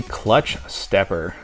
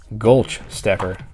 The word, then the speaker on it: Gulch Stepper: here we have a clutch stepper Oh Gulch Gulch there learn how to pronounce my word for it just spit them out gulch stepper interesting you are from 1991